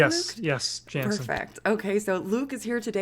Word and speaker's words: Janssen: Am I pronouncing that correctly, Luke? Yes, Janssen.